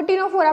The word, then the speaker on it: Ctenophora: नाम जो है वो टिनोफोरा पड़ा है। जैसे कि आप देख सकते हैं स्पेलिंग बिल्कुल सेम है, वहाँ पे फोरा है, यहाँ पे प्लाना है, सी साइलेंट है दोनों में, इसीलिए ये सबसे कॉमन